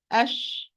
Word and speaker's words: ش: When I pronounce Sheen, ash.